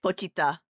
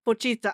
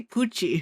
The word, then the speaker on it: Pochita: Pochita. Pochita. I always want to say Pucci. It's because it rhymes with Kuchi and it's the JoJo villain of Stone Ocean.